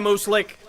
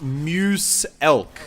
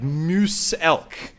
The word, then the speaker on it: Muselk: your name it's pronounced muse elk like moose elk so it's like a like a moose and an elk together like like the like